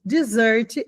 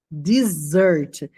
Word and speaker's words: dessert: Dessert é a sobremesa. Dessert. Com dois S, a pronúncia é desessert.